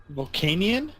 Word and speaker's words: Volcanion: I know it's spelled Volcanion. Volcanion?